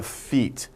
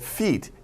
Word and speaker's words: feat: Something that is a great achievement, we say it is a feat. Not your pal, right? Pal 아니요, not feet, F-E-E-T, but feat, F-E-A-T. Pronunciation is the same as feet, right?